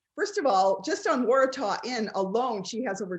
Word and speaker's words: Waratah: She has 3 series that I could tell, so correct me if I'm wrong, but she has the Waratah, did I say it right?